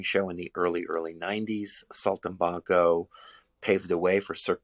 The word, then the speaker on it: Saltimbanco: How do you pronounce that show? Saltimbanco? Saltimbanco, yeah, Saltimbanco, Saltimbanco.